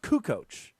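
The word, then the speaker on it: Kukoč: They don't even They They They don't even know it's pronounced Kukoc.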